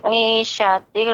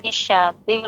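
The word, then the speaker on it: عيشة: Huruf shin Ibu lebih ditampakkan lagi, lebih banyak lagi tafashinnya, sifat yang udara yang keluar dari bawah lidah, atas lidah, kanan kiri. Ya, hurufnya menyebar suara udaranya.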